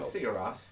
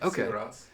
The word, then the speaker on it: Sigur Rós: How do you say it for real? Sigur Rós. Yeah. Okay. Sigur Rós.